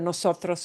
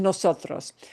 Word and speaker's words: nosotros: mark because we're like, we have the emphasis for the syllable is right in the middle in nosotros.